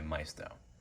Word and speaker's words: Maisto: In today's video, I'll be showing you and reviewing this 1/18 scale Aston Martin DB7 Vantage made by Maisto, or Maisto depending on how you like to pronounce their name.